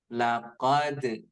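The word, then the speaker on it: لقد: Jadi nanti ada karena qalqalah itu membal ya, membal itu artinya memantul, maka setiap huruf qalqalah yang dibaca seperti ini. Laqad ada pantulan terdengar. Laqad ya.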